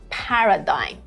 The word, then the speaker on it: paradigm: pronounce it this is Paradigm Paradigm here the first syllable has the main stress what is the main